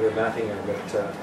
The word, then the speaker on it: Ermatinger: Now, I've heard that there's different pronunciations of his name, but people in the Hudson's Bay Archive, where we used to go to get old documents in, they're now in Winnipeg, they called it Ermatinger.